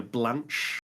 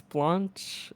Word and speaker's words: Blanche: I think it's Blanche. That's the Blanche. French. That's closer to the French pronunciation, anyways.